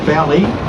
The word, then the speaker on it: Bally: me say the word belly hully the actually pronunciation for uh the training is belly although spelled b a l y it's when